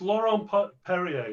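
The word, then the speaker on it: Laurent-Perrier: So it's Laurent Perrier La Cuvée.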